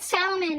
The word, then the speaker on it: salmon: Whose idea was it to spell it salmon and then have it pronounced salmon, by the way?